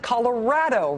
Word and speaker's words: Colorado: We pronounce it Colorado. Rad rhymes with dad.